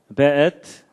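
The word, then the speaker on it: ואת: 그 다음에 앳, 하샤마임, 베엣. 요게 이제 W인데도 여기에 독일식 발음을 해서 베 이렇게 읽는다고 합니다.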